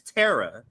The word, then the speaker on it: Tara: Tara more than Tara so right but yeah Tara is the pronunciation um there's actually a very ancient Hill